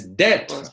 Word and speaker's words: d'être: And it's d'être. D'être. There's no accent on the last e, so the last e can actually disappear.